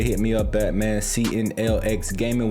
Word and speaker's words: CNLX: CNLX Gaming, where the X is silent.